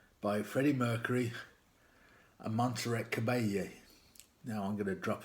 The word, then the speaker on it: Caballé: It's the double L Spanish thing. It gets the sort of, it's pronounced like the Y in million, you know, so, and it's just going to be annoying.